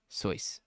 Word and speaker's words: Seuss: with your pronunciation because it actually rhymes with voice it is soyce nice yeah Dr Seuss